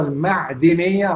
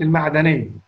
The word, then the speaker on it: المعدنية: اسمها هيئة الثروة المعدنية، النطق الصحيح في اللغة العربية الفصحى هيئة الثروة المعدنية وليست المعدنية، فلأن هو معدن وليس معدن.